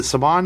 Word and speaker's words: Saban: Sundance this morning that he got financing through Saban. Is it Saban?